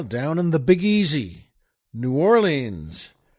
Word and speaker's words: New Orleans: and the Big Easy New Orleans or nollans as they more likely pronounce it down there Oh folks it's